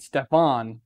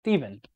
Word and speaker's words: Stefan: Because I called the Lightspeed Stefan, even though that's how his name is spelled, but it's Steven.